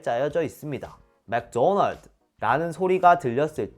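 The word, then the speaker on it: McDonald's: 이것도 이상한 건 똑같아요 원 발음은 맥도널드 이렇게 2음절로 발음되어 그런데 우리나라는 맥도날드 음절로 발음 되잖아요 못 알아들어요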